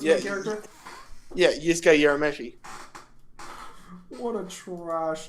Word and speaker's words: Yusuke: They do realize that it's Yusuke. Not Yosuke. Yosuke's from Persona. So yeah, I'm assuming that's the main character though of Yu Yu Hakusho. Yosuke. Pretty sure it's the main character. Yeah, Yusuke Urameshi.